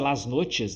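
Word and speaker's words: Las Noches: A pronúncia é lasnotes, né? Mas é lasnoches que escreve com ch.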